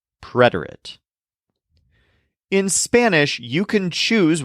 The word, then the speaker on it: preterite: To help remember which is which, the word preterite has a stress on the syllable red, preterite.